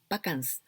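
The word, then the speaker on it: バカンス: we can write like this vacance anyway we pronounce pakans well this means vacation holidays well we've got a word japanese word yasumi for holidays or vacations but also we've got this word bakans pakansni prasekinas like this pakans well this origin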